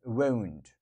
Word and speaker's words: won't: So there's a slight difference in pronunciation between want, so it's like W-A-N-T. You need something, you want something, right? This is want. And this one is slightly different. They say won't. Look, want, won't. So here, there is a little bit W in the pronunciation. I won't, I won't.